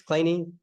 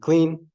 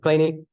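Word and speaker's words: Kleene: after Steven clany so notice the way I'm pronouncing it it's not clean it's clany when I took this class the professor pronounced it clean and so I'd been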